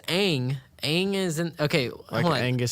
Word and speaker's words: Aang: names and names them wrong yeah they literally mispronounced the main character it's aang aang is in okay angus steak first of